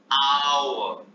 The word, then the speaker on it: hour: तो ये spelling H से शुरू हो रही है, लेकिन इनका प्रोनाउंसिएशन वाउल साउंड से शुरू होता है। HOUR, आवर नहीं, आवर, HONOUR, ऑनर, HEIR, एयर मतलब उत्तराधिकारी, एयरएस, HERRESS, एयरएस मतलब उत्तराधिकारी।